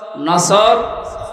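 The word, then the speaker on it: نصر: মানে ইগল পাখি এজন্য তেলাওয়াত যখন করবেন উচ্চারণটা মুখ গোল করা লাগে আল্লাহ পাক জানিয়েছেন যখন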